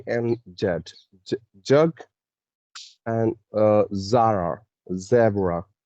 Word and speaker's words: Zara: you listen to people, they will pronounce this word Jara, right? Jara normally, but it's not Jara, it's Zara, Zara. There is a Z sound, right?